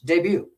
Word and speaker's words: debut: Debut. The T's on there, but we eat it.